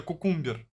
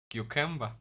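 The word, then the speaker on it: cucumber: Почему кукамбер, если это кукумбер? Кьюкэмбо. Кьюкэмба? Кьюкэмба. А, кьюкамба. Кукамбер, кукамбер. Я думал кукумбер, он так и читается, кукумбер.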